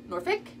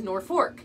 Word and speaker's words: Norfolk: of them say Norfolk one says Norfolk that's Virginia and one says North Fork that's Nebraska make sure